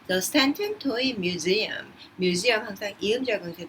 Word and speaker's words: Stanton: 자, 발음할 때 Stanton이라고 합니다. TON으로 끝나는 모든 것들 튼이라고 발음한다라는 거. The Stanton Toy Museum.